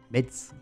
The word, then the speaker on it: Metz: On a une petite traversée du Luxembourg pour ensuite on va passer par Metz et Metz comme dit ma compagne, elle dit Metz, moi je dis Metz.